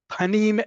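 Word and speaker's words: פָּנִים: Panim and pnim, even though they are spelled similarly, they are pronounced differently and need to be thought as different.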